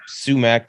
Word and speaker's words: sumac: like poison ivy sumac does that have a silent t in it no sumac like sumc oh my god you got